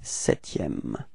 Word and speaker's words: septième: So you get this sixième, z, sixième, repeat, okay, and then le septième, keep in mind that you don't pronounce this P, okay, septième, alright, le huitième, repeat,